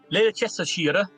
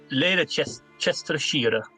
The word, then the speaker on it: Leicestershire: Leicestershire, basically, but Leicestershire. That's what it should sound like. Yeah, so the end bit, of course, is Shire from The Hobbit.